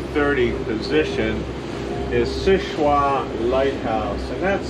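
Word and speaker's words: Seul Choix: side at about the 2 30 position is sichua lighthouse and that's spelled s-e-u-l second word c-h-o-i-x sichua lighthouse just uh east of mcdonald lake on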